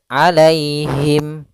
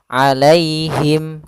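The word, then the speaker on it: عليهم: Alai itu ada ya sukun didahului dengan fathah, maka di sini kita namakan dengan bacaan lin, yaitu cara membacanya dengan bacaan yang lembut, alaihim, alaihim.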